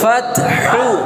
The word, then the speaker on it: فتح: ওয়াল ওয়াল ওয়াল ওয়াল ফাতহু ওয়াল ফাতহু ফাতহু ওয়াকফা করলে ফাতহ ফাত ফাত শেষে হাটা অল্প উচ্চারণ হবে ফাত ফাত ফাত ফাহ